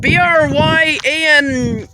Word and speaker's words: Bryant: Bryant is how you pronounce this road name.